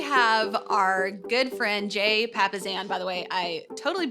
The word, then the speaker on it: Papasan: And we're super excited today because we have our good friend, Jay Papasan. By the way, I totally butcher his name in the interview, but we now know Papasan is the right pronunciation.